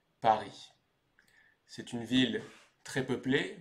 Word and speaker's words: Paris: vivrai plus tard donc en ce qui concerne la prononciation on va dire Paris c'est une ville très